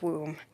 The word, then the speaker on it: womb: with my mother who said no dear it's pronounced womb I continued to do science fair projects throughout